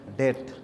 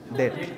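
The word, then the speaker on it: debt: ডেভেঞ্চারস long term ডেট ডেপথ দেন সে এটার উচ্চারণটা কি বলেন ডেপথ নট ডেপথ ইট ইজ ডেপথ ডেপথ silent be silent not that ডেট ইউ R thinking it ইজ ডেট ওকে না আই আই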